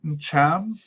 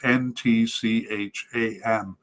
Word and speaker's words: Ntcham: All right, the other 2 candidates, Olivier Ncham. He has 4 consonants at the beginning of his name, so I don't believe I can be blamed for mispronouncing it. It's Ntcham.